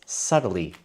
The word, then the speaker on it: subtly: different or it is subtly different. And we use subtly to say that maybe how it is different is very difficult to see. Maybe two paintings are subtly different. Remember that B is silent.